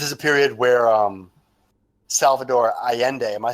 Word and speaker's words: Allende: And this is a period where Salvador Allende. Am I saying that right, guys? Allende?